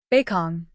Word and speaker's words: Bakong: beong sometimes transcribed beong or bacon to be spoken with a long o in ruos is situated